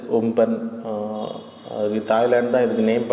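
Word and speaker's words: Amphan: ஸோ இப்போ super cyclones bay ஆஃப் பெங்காலில் உருவாகிறதுக்கான மெயின் reason, so cyclone அம்பன் actually. So pronounce is உம்பன்.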